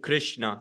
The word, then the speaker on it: Krishna: you that this I this Kish this I shouldn't be there it should be straight Krishna like there shouldn't be